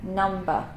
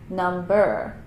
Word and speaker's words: number: at the end of words so we say number not number can I have your number so with the